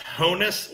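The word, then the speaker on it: Honus: wagner okay all right so it's pronounced hoeness wagner honest or honest owners yeah no relation to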